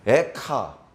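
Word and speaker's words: אֵיכָה: 애가라는 글의 제일 첫 번째 그림 알렙으로 시작됩니다 에카 어 애가 하고 발음이 거의 비슷하네요 이거 보고 장난인 줄 알았습니다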